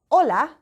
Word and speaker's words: hola: need to learn because words like hola begin with an H but we don't pronounce the h we don't say hola